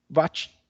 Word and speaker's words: Watt: gramática, que fala que Nomes de pessoas estrangeiras têm que ser pronunciados na língua de origem da pessoa. E aqui esse nome, que é o Watt, foi em homenagem a um cientista britânico, que é o James Watt. Ele desenvolveu a primeira máquina a vapor. Né? A primeira máquina a vapor foi ele que criou. Então, a pronúncia correta seria Watt.